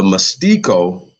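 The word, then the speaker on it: mestiço: of the Brazilian colony the mystico right Portuguese pronunciation group has been the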